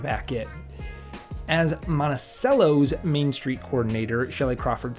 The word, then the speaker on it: Monticello: As a note, the town is pronounced Monaceel, not Monachello like Thomas Jefferson's estate. It took me quite a few times of saying Montichello to and actually correcting myself into Monaceel to really break that habit.